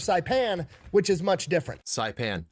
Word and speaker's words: Saipan: Saipan.